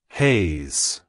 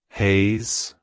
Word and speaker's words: Hayes: England it's pronounced as Haze Haze Haze to pronounce it correctly emphasize that b y and the Z sound at the end keep the z sound short and crisp like hello Hayes goodbye Hayes if you